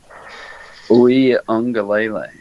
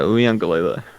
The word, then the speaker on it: Uiagalelei: Go ahead and pronounce his last name really clearly. Uiagalelei. Yeah, Uiagalelei.